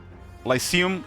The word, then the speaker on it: Lyceum: Google AI, just give me a pronounce there. No video. Like, and I think it's Lyceum.